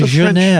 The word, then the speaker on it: Genève: Don't put an R in it. What the hell are you putting an R in it? It's a Genève. It's a French thing. Genève.